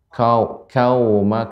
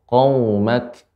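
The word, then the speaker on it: قومك: Pertama pada kata arsalna, kemudian kedua pada qaf, qa, jangan ka ya. Tadi terdengar seperti kaumak. Iya. Namun lebih dalam lagi sehingga pengucapannya qaumak.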